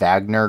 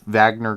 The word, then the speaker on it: Wagner: it spelled wagner um that w is just pronounced as a v but um for our